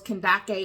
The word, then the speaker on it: Kandake: of great Authority Under Candice Kent Kake if depending upon how you want to pronounce it uh but the in ancient times it was kandake or Kake queen of Ethiopians who